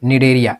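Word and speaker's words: Cnidaria: क्या है अभी देखो इसको सी यहां साइलेंट है एन आई डी ए आर आई ए डेरिया इसी को बोले थे ना सी साइलेंट है नेक्स्ट हाइड्रा जेली फेस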